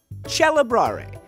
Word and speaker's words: celebrare: happened as Italian developed when the C is followed by an e the C became a cha the word celebrate in Italian chel and perhaps you've enjoyed